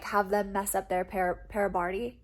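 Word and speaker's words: parabatai: them mess up their parabardi is how you say it pair of body pair body um i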